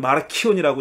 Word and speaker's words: 마르시온: 마르시온 혹은 마르키온이라고 읽는데 마르시온이라는 사람입니다.